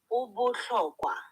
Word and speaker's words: Ubuhlokwa: Yes, Obolokwa. That, Good evening, doctor. kindly pronounce that name again. Ubuhlokwa. Hey, Obolokwa.